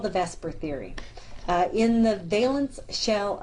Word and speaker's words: VSEPR: Notice I say VSEPR, but it's not actually spelt out like VSEPR. So we know that we pronounce it as if the E and the S is traded places, but we know it's not.